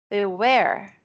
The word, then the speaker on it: beware: Beware. Beware. Okay, so this is an S sound, like in Érika, and this is the strong syllable, the stressed beware.